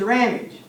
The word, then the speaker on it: Ramage: My name is Ramage. It rhymes with damage.